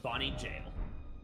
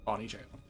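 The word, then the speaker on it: Bonny Gaol: Yes, jail. They spell it funny, but yes, Bonnie Jail. Bonnie Jail.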